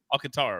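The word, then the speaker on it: Alcántara: and they scored a lot yesterday in Miami too they hounded the ball how do we I always pronounce his name wrong Alcantara Alcantara right yeah he got bounced around he has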